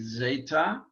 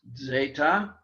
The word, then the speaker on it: zeta: letters epsilon and then zeta or actually a little softer z zeta um something like if you were pronouncing it d s zeta it's the z sound that we the only sound that we have in greek um and uh we